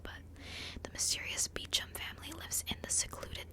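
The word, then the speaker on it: Beauchamp: on Hulu The Mysterious I always want to say bo bo champ but guess that's how it's spelled but the mysterious beum family lives in the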